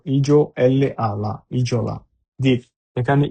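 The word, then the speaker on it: isola: ইতে ইজলা ই এস ও ইজ এল আলা ইজলা এখানে ইসলা না হয়ে ইজলা হার কারণ হচ্ছে যদি এস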